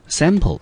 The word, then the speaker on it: sample: sample 啊，这个字的母音呢，在 a 整个字只有一个音节，我们念成 sample。那 sample 这个字呢，当作及物动词，我们中文呢翻译成试吃。但是在我们讲例句之前呢，Andy 要再提醒同学另外一个字，那个字呢，我们念成 simple。那 simple 这个字呢，我们知道它的意思呢，我们中文翻成所谓的容易的或者是简单的。所以呢，一个叫做sample，一个念成 simple，不要忘记了这两个之间的差异啊，它的差异呢就差在它的母音的地方。好，我们直接来看例句。